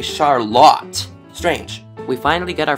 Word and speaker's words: Charlotte: to the west to what is not pronounced as Charlotte, but apparently Charlotte.